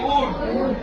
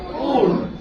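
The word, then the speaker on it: would: ইউ এর যখন এখানে এল এর সামনে যখন ইউ রয়েছে তখন এল এর উচ্চারণ হবে না। আমরা এটাকে কি বলি? ডব্লিউ ও ইউ এল ডি কে কি বলি? উড।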